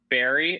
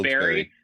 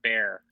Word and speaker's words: Wilkes-Barre: It's Wilkes-Barre. Barry. It's Barry. Yep. I ask people. I say Bear.